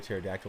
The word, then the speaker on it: pterodactyl: can't you hear a pterodactyl in the bathroom the pee is silent yeah that was a